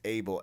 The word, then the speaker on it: Abel: Well, because the Weeknd's real name is Abel Tesfaye, and it's pronounced Abel, and that's how he spells Abel too.